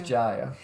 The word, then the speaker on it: Jaya: really appreciate knowing knowing the distinction between uh the Bengali pronunciation and I guess I'm I might even be butchering the Sanskrit pronunciation or the Hindi pronunciation but that's what we call our kid is Jaya and I'm blown away